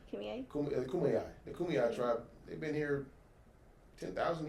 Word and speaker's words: Kumeyaay: Oh, I think that's how you say it. The Kumeyaay tribe. I said it wrong last time. Kumeyaay. The Kumeyaay tribe.